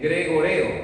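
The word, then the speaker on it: γρηγορέω: cuando vamos al griego se escribe gregoreo, casi como gregorio y significa mantenerse despierto, lo cual tenemos que hacer en esta vigilia.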